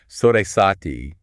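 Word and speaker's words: Sade Sati: Sesati, that's pronounced roughly sad satisfic astrology.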